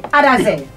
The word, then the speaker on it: Adahzeh: So I'm going to try and get the name of the group pronounced correctly. Adahzeh.